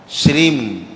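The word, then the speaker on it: श्रीं: तो सभी लोग अपना शुद्ध उच्चारण करके, जैसे श्री लिखा होता है, अंग की बिंदी रखी है, तो उसको हमेशा श्रीम, माँ आखिरी में मुँह से निकले माँ, श्रीम श्रीम ऐसे पढ़े।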